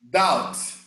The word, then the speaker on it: doubt: way of casting double doubts you don't pronounce the b you don't pronounce to be doubt doubt on the weather whether the